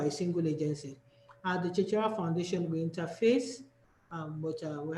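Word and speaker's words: CeceYara: can call us, the Chichiara Foundation. And God so good, things have been easier. We have an app at the Chichiara Foundation, the Chichiara app. Cheche is spelled C-E-C-E, Yara is Y-A-R-A.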